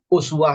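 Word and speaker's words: أسوة: Bisa dibaca uswah dengan rafa, dhammah ini uswah. Bisa dibaca kasrah, iswatun. Dua-duanya sama. Dua-duanya boleh dibaca, Pak. Dalam qiraah boleh dibaca uswah, boleh dibaca iswah.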